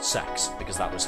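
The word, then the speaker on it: CeX: But the advertising campaign from a couple years back um outright said it's pronounced sex because that was how they did the advertising for it.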